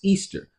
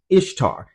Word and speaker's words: Ishtar: Number one, Ishtar is pronounced Easter. Well, the reality check is no, Ishtar is pronounced Ishtar.